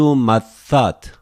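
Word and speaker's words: Ματθάτ: Tu mathat, one more time. Tu theta, we pronounce just one theta. Mathat.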